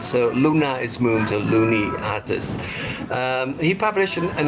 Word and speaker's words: Looney: Thomas Looney. Actually, you pronounce Loney, which make people laugh because Looney means crazy, orang gila.